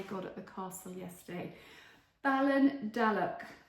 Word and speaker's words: Ballindalloch: Balon Dalock is how you say it.